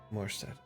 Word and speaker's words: Morstead: As- Null, Ayaki, and so it's Morstead, correct? Homestead. Morstead. Okay, just wanted to make sure I'm saying it right.